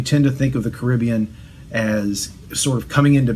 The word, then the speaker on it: Caribbean: It's a history of the indigenous peoples of the Caribbean, or the Caribbean, depending on how you want to pronounce it. Obviously, I picked Caribbean, and it's quasi-academic.